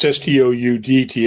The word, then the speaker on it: Stoudt: And it's Stoudt as opposed to the stout beer.